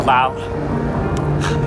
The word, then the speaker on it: Laos: So we're in Lao now. I don't think people pronounce the S.